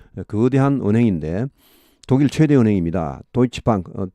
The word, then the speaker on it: Deutsche Bank: Deutsche Bank, 독일 발음은 Deutsche Bank고 영어 발음은 Deutsche Bank가 되겠습니다.